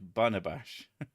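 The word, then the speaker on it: Barnabás: By TW, his name is spelt like Barnabash.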